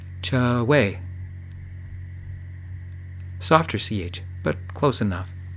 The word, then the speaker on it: Choi: It's pronounced Choi. Rhymes with Trey, but with a soft CH sound. Cha-way.